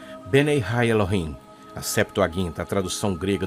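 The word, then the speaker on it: בני האלהים: Os filhos de Deus mencionado aqui em hebraico se pronuncia Benei Ha Elohim.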